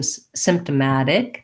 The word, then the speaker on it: symptomatic: a black cat vowel we also say this t as more of a flap like some symptomatic dick versus um versus a sharp t we don't release that t so just like in words like automatic um problematic kind of practicing that matic at the end will help you